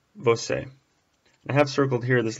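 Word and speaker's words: você: ay u EU a you for you it's pronounced bo say I have circled here this little circumflex this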